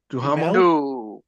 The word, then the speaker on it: Duhamel: Can you pronounce that last name again, please? Duhamel?